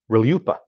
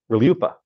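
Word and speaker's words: RLUIPA: u i p a r-l-u-i-p-a pronounced reliuppa I swear that's us pronounced reliuppa and it stands for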